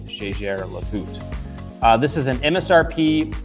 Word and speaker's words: Jaeger-LeCoultre: Our next piece and this is actually a manufacturer uh whose name is mispronounced quite a bit. Um so it looks like Jagger Loot uh but it's actually Jer Loot. Jjer Loot.